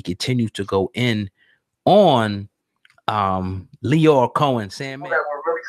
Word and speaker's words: Lyor: I'll say it right, Lyor, because people was getting me in the comments saying lawyer. You know, whatever. I heard some people say lawyer, whatever.